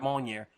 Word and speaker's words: Mjolnir: that scene where they're trying to pick up Mjolnir, I'm saying it wrong. I know I am. Mew Mew. Mjolnir.